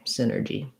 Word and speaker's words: synergy: um so synergy um first syllable stress the y is just an if sound so you could respel it like sin with a letter i um sin or g i'm going to rewrite the j or the j sound that's spelled with letter g as a j here because that's how